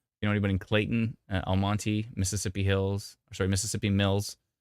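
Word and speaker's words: Almonte: on Twitch sure is oh Al Monte doesn't produce pronounce the E my bad Almont Almont there's like 99 comments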